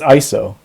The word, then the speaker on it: iso: By the way, how do you pronounce it? Like ISO, Oh, I'm really glad you asked. It's ISO. ISO.